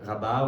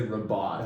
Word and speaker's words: Rabat: is now working at the Israeli embassy in Rabat, which is the capital. Oh, that's how you pronounce it.